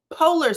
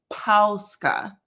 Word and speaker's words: Polska: Because like I said, we pronounce it, my family pronounce, and we're from Ohio, we pronounce it Pola, Pola. Okay, which is a common pronunciation, but still wrong, child, still wrong. The correct way to pronounce it is Polska sausage.